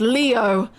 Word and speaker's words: Leo: It's written with the kanji for lion, to be sure, but it's pronounced Leo.